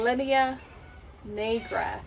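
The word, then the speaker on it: linea nigra: Okay, your linear knee graph, that's how you say it, the line that comes up on your tummy.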